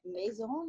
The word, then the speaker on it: Masson: And I'm here with the fabulous Pauline Masson. Is that how I say it correctly? It sounds more French than it does, Yes, right? Do you get that? it is. It is French?